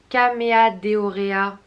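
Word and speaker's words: Chamaedorea: Alors je suppose que ça se prononce K, même si c'est H. Caméadeorea elegans.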